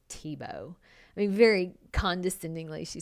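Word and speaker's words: Thibaut: if you're a designer you should know how to pronounce the word TBO I mean very condescendingly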